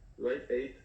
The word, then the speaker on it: Live Aid: Hablaba específicamente del Live Aid, así se pronuncia, Live Aid, que le congregó a bandas históricas como Queen,